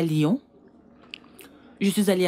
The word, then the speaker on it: Lyon: Et l'autre, Lyon. Reine-mère, on dit Lyon. Lyon. Tu n'as pas besoin de faire comme moi avec les lèvres. Juste prononce Lyon.